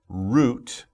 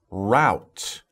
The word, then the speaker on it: route: it two different ways some americans will say root like the roots of plants it rhymes with hoot right but sometimes americans will say route and uh i could